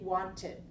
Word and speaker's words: wanted: one add Ed T we cannot have two t sounds together so we add another syllable and we say wanted so in two cases